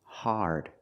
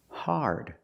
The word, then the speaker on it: hard: we don't say hard the word is pronounced hard it's an open Sound ah a r connected to the r like when you say car and far hard this is also not